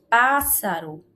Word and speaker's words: pássaro: A mesma regra vai se aplicar aqui para a palavra pássaro. Olha o pássaro, a qual é também uma proparoxítona, porque a sua antepenúltima sílaba é a mais forte.